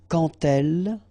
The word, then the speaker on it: quand elle: So like that, quand elle. All right, same rule here. Remember, when you will have this D, you will phonetically pronounce it like T. Quand elle, dans un, okay, and